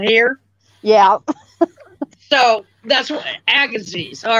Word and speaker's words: Agassiz: So, is it, do you pronounce it a gazeez? Oh, Agassiz. It's Agassiz.